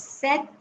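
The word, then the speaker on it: sept: three pronunciations the uh number seven is pronounced as Seth the number eight is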